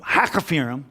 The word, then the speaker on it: Hakkephirim: Sanballat and Geshem sent to me, saying, come, let us meet together at Hakkephirim, which I did have to do a pronunciation lookup for that. That's how it sounded out. Hakkephirim, okay, say it real quick.